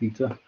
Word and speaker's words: eta: It looks a bit like an N, but it's pronounced eta.